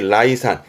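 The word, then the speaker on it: 礼賛: 위엔 전부 다 레로 가는데 예만 라이 가서 발음이 라이산, 예찬하다, 라이산스르 이지만 주로 위의 단어들을 많이 보게 되셔요.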